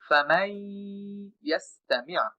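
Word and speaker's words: فَمَنْ يَسْتَمِعْ: পরে এই ইয়াটা আসে, তখন এই নুনটা ইয়ার সাথে যুক্ত হবে এবং তখন আমরা নুনটাকে উচ্চারণ না করে সরাসরি মিম দ্বারা ইয়াকে যুক্ত করব। তখন আমরা বলবো ফামাই ইয়াস্তামি', ফামাই ইয়াস্তামি'।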